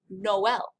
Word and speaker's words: Noël: Tréma, the two dots, actually makes the two vowel sounds separately. It's found in the word Noël, the word for Christmas.